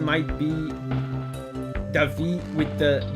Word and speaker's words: David: If you're in Brazil and your name is written David, you're called Davi, even with the D at the end.